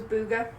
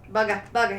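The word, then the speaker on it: Bugha: Esports player was Booga. Yeah. Bugga. It's Bugga. Bugga. Sorry, I butchered that.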